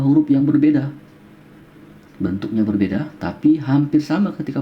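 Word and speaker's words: ت: Bentuknya berbeda tapi hampir sama ketika pengucapan. Yang ini ta, yang ini to ya. Ta, ini biasa ya. Terdengar seperti ringan saja ketika terdengar ta.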